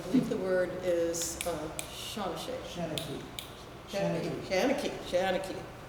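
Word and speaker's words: seanchaí: Shanachie. It's really Shan, not Sean. So she, well, Shanachie.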